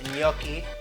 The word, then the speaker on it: gnocchi: I'm making ricotta cheese gnocchi with sunflower seed pesto sauce the G is silent we're making pasta first